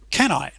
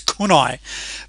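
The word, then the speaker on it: CANI: However, I also do believe in, can I? Now, I believe Tony Robbins pronounces that slightly differently. I think it's kunai, which stands for constant and never-ending improvement.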